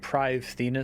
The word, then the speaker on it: Prifddinas: this room lead there I know it's pronounced privus technically but everyone says PRI so I'm probably just going to say PRI see going somewhere here